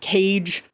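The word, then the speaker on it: Keiji: him Killer cage uh which is how the Americans pronounce his name kg ke i j i they pronounce it cage um and so they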